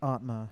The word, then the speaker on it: Atma: uh so the album you gave us was atma it's pronounced atma yeah and uh yeah it's pretty accurate description